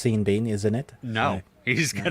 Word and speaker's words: Sean Bean: But the way that the Irish actor spells his name, it should either be pronounced Sean Bon or Sean Bean. You cannot have one letter changed on each word and it be Sean Bean. That makes no sense.